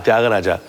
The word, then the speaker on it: Tyāgarāja: The composition begins with the Rishabhaswara, the Ri, and the syllable Tya in Tyāgarāja, Tyaga, is elongated, or as we say in musical terms, has a karvai of 3 musical counts, which is a rather long karvai.